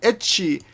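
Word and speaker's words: エッチ: Then ecchi. Ecchi is the pronunciation for having sex, but it's also the way you pronounce the letter H.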